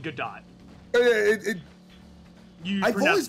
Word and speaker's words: Godot: or goto it's called good dot oh yeah i've always called it uh like the like the ace attorney character yeah but i think you actually do pronounce the t it's that's weird yeah